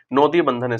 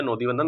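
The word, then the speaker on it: নদী বন্ধন: जो इंग्लिश में जो है इसका प्रोनाउंसिएशन मतलब वेस्ट बंगाल की भाषा में नोदी बंधन, वैसे इसको नदी बंधन योजना कहेंगे, जो कि नदी के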